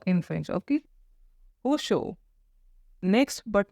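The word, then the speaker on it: ressort: हुशो, हुशो। Okay, here, as I told you earlier, the pronunciation of R is K in French. Okay, Hosho.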